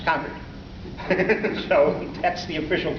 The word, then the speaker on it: Concord: it by the way I used to say Concord until I visited some friends in Boston and they said no no no no no it's concerete so that's the official correct pronunciation after that